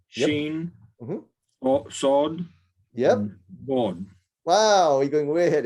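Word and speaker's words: ظ: board. Wow, we're going way ahead. There we go. So seen, Okay. sheen, sawed, and Odd. bought. So the Board.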